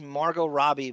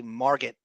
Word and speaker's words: Margot Robbie: She just pronounced Margot Robbie Margaret Robbie with she hit the T.